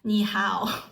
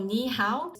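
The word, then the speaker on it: 你好: all know which is niow which means hello So niow based on the pronunciation it's n i is the sound of knee after you type an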